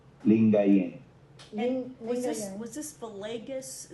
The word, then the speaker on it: Lingayen: Lingayen. Lingayen.